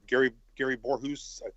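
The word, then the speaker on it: Gary Voorhis: We had the guys from the Nimitz guys that Gary Borhus, that's how you pronounce his name, and Patrick Hughes, I think, and then the other guy.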